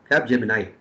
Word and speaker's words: Capgemini: Capgemini, that's how we pronounce.